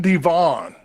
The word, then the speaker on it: DeVaugh: gang Yeah by Red farmer and uh Landon Devon am I correct with that one everyone says I I do not pronounce names right I mean I mean you